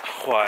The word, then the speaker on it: why: Why, yeah, that's right. Pronounce the H, ladies and gentlemen.